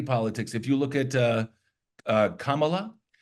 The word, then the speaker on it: Kamala: If you look at Kamala, which is how you pronounce her name, which I've been told.